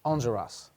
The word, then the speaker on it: Enjolras: Enjolras.